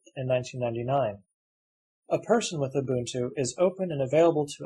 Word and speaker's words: Ubuntu: Ubuntu, pronounced Ubuntu, is a sub-Saharan African ethic or ideology focusing on people's allegiances and relations with each other.